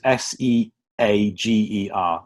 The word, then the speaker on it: Seager: Seagar is Seager, like the coach company.